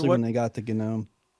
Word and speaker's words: GNOME: they got the GNOME. The GNOME gnome. Yep. Yeah, GNOME. I think is the right way to say it.